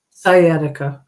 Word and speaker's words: sciatic: right skic nerve huh sciatica sciatic oh the sea is silent yes I see sciatic you